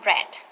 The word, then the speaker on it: read: we got wanted needed read it sorry read become red say same the same word but different pronunciation okay and different like a